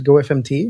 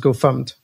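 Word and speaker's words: gofumpt: Because I used to call the original GoFumped GoFMT. Mm-hmm. And then somebody told me, no, it's pronounced GoFumped.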